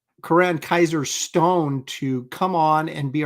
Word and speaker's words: Coran Kizer Stone: to join us again please welcome Corin sorry Karan Kaiser Stone I've been mispronouncing his name all this time hey bud okay I'm